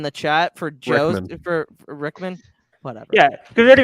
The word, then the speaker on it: Rickman: rip Alan Rickman yeah real one Rickman not rinkmann shut up you said